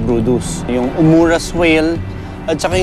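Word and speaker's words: Bryde's: yun yung blue whale brus whale or pag binasa mo brid whale siya no pero ang pronunciation brus yung umur whale at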